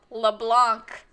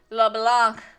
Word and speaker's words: Leblanc: thief created by maurice leblanc leblanc you english voice actors is not la plan it's not leblan um which is the